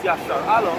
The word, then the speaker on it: Yasharahla: The word Israel in Hebrew, it means, it's pronounced Yasharahla, meaning he is prince of power, right?